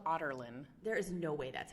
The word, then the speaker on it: Adarlan: So it's like Otterlin, but it's spelled Adarlan.